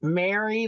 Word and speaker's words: Mary: It's Mary, like Merry Christmas.